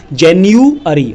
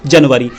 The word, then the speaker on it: January: अब कुछ स्कूल्स के स्टूडेंट्स ऐसे बोलते हैं JANUARY जनवरी, तो ये गलत है। JANUARY को पहले आपको उच्चारण करना पड़ेगा जेन्युअरी, फिर इसका हिंदी में मीनिंग होगा जनवरी।